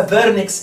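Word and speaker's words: Wernicke: دي بيبقى جواها اريا اسمها فيرنكس اريا. فيرنكس تتكتب كده، ده الماني، الماني دبليو تتنطق في زي فولكس فاجن.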